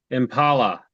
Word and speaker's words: Impala: you pronounce Impala Jason Impala like Valhalla oh did you say